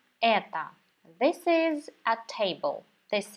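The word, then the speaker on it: это: table at the store pay attention to pronunciation here at the end of this word we see the letter O but we never say like that it is unstressed so we pronounce it as though okay what else do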